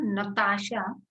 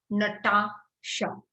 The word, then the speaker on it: Natasha: It is not Natasha like a Hindi movie or Hindi pronunciation. It is Natasha, right?